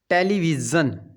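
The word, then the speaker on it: television: और क्या नाउन बन जाता है जैसे कि टेलीविजन टेलीविजन मिक्स की आवाज होगी ना दोनों तरह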